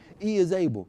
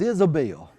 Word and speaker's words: Is-Able: We're going to call our organization E is Able. He said, whoa. He said, how we going to spell it? Everybody going to think it's Isabel.